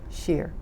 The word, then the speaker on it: Shear: that we have also the correct spelling and pronunciation of your name and aah shear sh e ar now you were how old